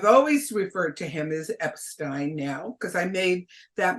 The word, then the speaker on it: Epstein: his name Brian Epstein I called him Brian Epstein and at that moment he said no my last name is Epstein okay and so I've always referred to him as Epstein now because I made